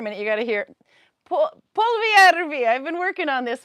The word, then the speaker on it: Polvijärvi: The way to pronounce the stitch of the month. So it's called Polvijärvi. If you're a real Finlander. Polvijärvi.